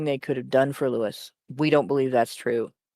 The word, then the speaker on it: Lewis: Like half the people I know in the US pronounce it with the long I.